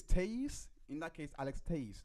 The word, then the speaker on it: Telles: Are you gonna pronounce his name correctly or use Tellez like the court did even after they corrected him? Tay-Iz. Oh, I didn't even know. Tay-Iz is how he says it's to be pronounced.